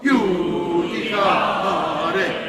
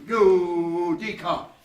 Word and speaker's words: judicare: Judicare. Yeah, put a little accent on the D. 1, 2. Judicare.